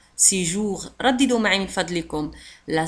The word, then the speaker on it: séjour: لاحظوا على أن séjour تنتهي ب R وتنطق séjour.